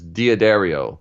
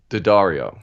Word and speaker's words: D'Addario: one of the questions is, how do you pronounce D'Addario? Do you tell me? Right. So everybody usually says D'Addario, but Okay. it's actually D'Addario.